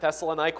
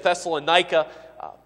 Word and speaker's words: Thessalonica: in the city of thessalonica Might truly in Greek it's probably better pronounced thessalonica but you'll generally hear it thessalonica and that is it's